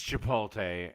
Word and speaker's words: Chipotle: It's Chipotle.